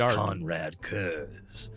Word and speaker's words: Konrad Curze: Some of you may know me as Konrad Curze.